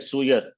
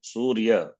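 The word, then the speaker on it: सूर्य: So never make the mistake suyar, not suyar, surya.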